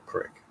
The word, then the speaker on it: creek: I mean, everybody can pronounce it any way they want to. But I can't. There's something in my brain that just won't let me call it a crick.